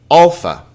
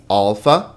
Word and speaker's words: alpha: Alpha, alpha. And you can see that this alpha has a sound like the A in car, ah. Not a, like hat, okay?